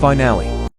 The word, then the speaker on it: finale: Finally is pronounced finally, but finale is pronounced finale.